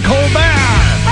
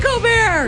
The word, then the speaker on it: Colbert: It's not Stephen Colbert. It's Stephen Colbert. It's Stephen Colbert if you ask my mother, but it's Stephen Colbert if you ask my agent.